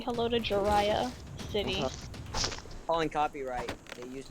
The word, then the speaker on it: Jirachi: Say hello to Jiraiya City. Calling copyright. They used my Did you name. say, oh gosh, what's that Pokemon's name? So Jiraiya. Jirachi? Did you say Jirachi? No, Jiraiya.